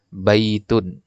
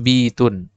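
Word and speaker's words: بيتٌ: Contohnya di kata baitun. Baitun. Ya, kenapa nggak bitun? Ya, kalau bitun kan lebih enak pengucapannya ya.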